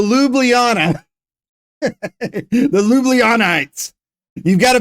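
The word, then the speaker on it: Ljubljana: thing so the L the J is silent so lublana the Lites you've got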